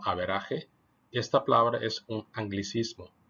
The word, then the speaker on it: average: Escrita como el inglés average, pero pronunciada como averaje, esta palabra es un anglicismo, pues viene del inglés.